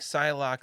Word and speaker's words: Psylocke: get right into it psylock spelled with an e at the end which is why my uh autocorrect keeps yelling at me whenever I type the word Cylon just think psylocke like John Locke once again also probably